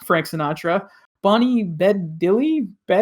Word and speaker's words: Bedelia: Bonnie Bedelia. Bedelia. Thank you. Bedelia. My handwriting is bad here. That's all the pronunciations.